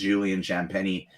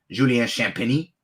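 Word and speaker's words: Champagnie: But for the most part, it's Julian Champagny and or Julien Champagny, as Champagny, as it would actually be pronounced.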